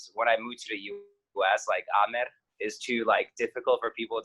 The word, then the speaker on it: Amer: So my Bosnian first name is Amer. Amer is how you say that. Amer.